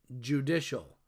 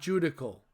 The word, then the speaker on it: judicial: have the judicial branch yes judicial not judical please don't pronounce it that way the judicial branch think